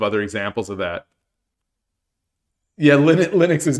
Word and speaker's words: Linux: Yeah, Linux is not Unix. Linux is not Unix.